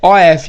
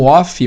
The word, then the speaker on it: of: Algumas pessoas pronunciam como off, mas off não é of. Of é of. O off, esse som de off é off, que significa desligado, desativo, né?